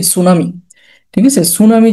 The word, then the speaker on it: tsunami: এটা সুনামি যেহেতু জাপানি শব্দ, আমাদের মতো কিন্তু আপনার এস দিয়ে না। ঠিক আছে, এটা কিন্তু বানান আসে TSUNAMI, টি দিয়ে শুরু, এটা একটু অনেকে ভুল করে।